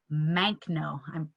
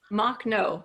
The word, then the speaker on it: Makhno: Do you know about Nestor Makhno? Pardon my pronunciation. Makhno, yeah.